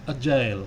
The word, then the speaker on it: agile: Materi hari ini adalah mengenai agile ya, tentu bacanya nggak agile ya, agile ya, membacanya adalah agile ya.